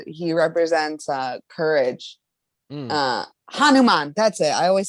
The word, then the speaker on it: Hanuman: wait it's no it's h Craig you no Honan okay what does Honan stand for what is this story he uh he is he represents uh courage uh Hanuman that's it I always say it wrong hanuma